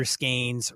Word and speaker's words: Scaines: Scaines, rhymes with stains.